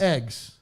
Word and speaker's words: eggs: No, it's not a long A. It's a short E.